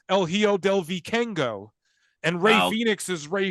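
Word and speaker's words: El Hijo del Vikingo: move and every wrestler El hiodo Viking go is not El hio do if I can go he's El hio Del vicengo and Ray Phoenix is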